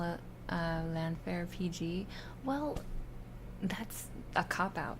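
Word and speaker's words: Llanfair: just call it uh landfair PG well that's a copout now I feel like the double ll is pronounced CLA CLA like something stuck in your throat clown Fair like that clown Fair CL clown Fair L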